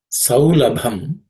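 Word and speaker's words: सौलभम्: In terms of pronunciation, Anyasmat does not have any aspirated consonants. The word saulabham, in that the last letter, bham, bha, is aspirated, a fourth letter in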